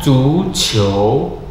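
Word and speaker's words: 足球: Selanjutnya, zu qiu, zu qiu, ya, iu dibacanya you, you, zu qiu, zu qiu.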